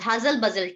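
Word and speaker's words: hustle bustle: HUSTLE hustle, BUSTLE buzzle, hustle buzzle, T silent।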